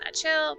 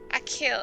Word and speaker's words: Achill: Kaizo's mother and brother both work at the post office on Achill.